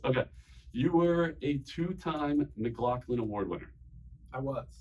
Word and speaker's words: McLaughlin: you were a two-time McLaughlin Award winner I was is that pronounced correctly McLaughlin nailed it hell yeah which is